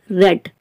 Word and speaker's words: read: past participle then you have to pronounce it like red read red red spellings are